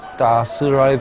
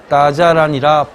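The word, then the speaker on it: 大栅栏: 뚜이추 맞은편 따스랄 거리만 열려 있습니다. 따스랄은 원래 따자란이라 발음해야 하지만 현지 사람들은 이유는 알 길이 없지만 따스랄로 발음하고 있습니다.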